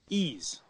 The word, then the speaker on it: Ys: Ease. Wise. Ease, I think it's pronounced. I like Wise. But I like to read it the way I see it, so I'm calling it Wise.